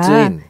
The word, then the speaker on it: ツイン: 안쪽 부분 위에 보시면 딱딱한 경구개가 있잖아요. 아하. 네, 그 부분에 혀를 댔다가 쯔인. 네, 떼시면서 쯔인이라고 하시면 혀 끝을 대나요?